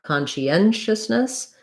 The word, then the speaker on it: conscientiousness: did we think about conscientiousness we have stress on the m kanji we have secondary stress on con so it's going to have a clear ah vowel so thinking about ah